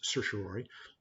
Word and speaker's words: certiorari: remember how to spell it but it's it's pronounced certiorary you do a petition for certain ways and